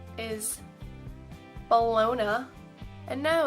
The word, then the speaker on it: Bologna: that's spelt like this Bologna is like lasagna it's not loose on me or whatever I don't know but it's based off a town called the Luna so actually you've been saying it wrong like I get that